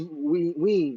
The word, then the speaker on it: Wien: I Wien, can think only because this about is maybe it's Wien. Vienna. Wien. Do you say Vienna in English?